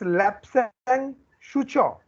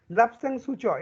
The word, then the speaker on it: Lapsang Souchong: Who will tell me the pronunciation? It's Lapsang Souchong.